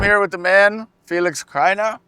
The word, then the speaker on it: Krainer: So I'm here with the man, Felix Krainer.